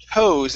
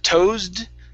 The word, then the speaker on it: toes: Let's go to the word toes instead of twos. Okay. This is toes. Toes. Toast. Okay. And with an S instead of toasted, it's toes. Toast. Okay. One more time. So you're ending with an extra sound at the very end. It's a D saying toasted. Instead of toasted, it's toes.